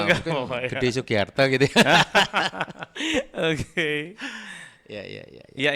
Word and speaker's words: Sugiarta: Ya saya ya Sugiarta karena memang saya orang Jawa itu kan huruf terbacanya O tapi sebenarnya hurufnya A itu. Akhirnya kadang-kadang saya suka guyon. Kayak kalau di Jogja ya namanya Sugiarto. Kalau di Jakarta ya Sugiarta. Di Bandung Sugiarta.